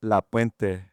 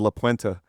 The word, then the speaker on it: La Puente: First of all, you got to say it like an LA Chola, La Puente. You said La Puente. Yeah, dude. You said it like an Anglo-man from Colorado.